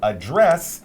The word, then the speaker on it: address: When we use it as a verb here, we pronounce it a little differently, address, and basically it means to talk about something.